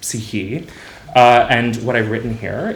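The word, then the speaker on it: ψυχή: It's pronounced psyche.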